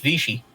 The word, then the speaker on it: Vichy: actual Hitler I mean Vicky France was the thing okay just because Vicky France that's a bad example that's supposed to be pronounced I want you to pronounced Vichy I really heard it